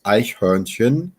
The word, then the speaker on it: Eichhörnchen: exactly right, but das Eichhörnchen, you have to make that CH and then an umlaut OR sound, and then followed right up by a CH again. Eichhörnchen.